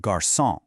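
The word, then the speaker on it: garçon: It's a signal to pronounce it as a soft s sound.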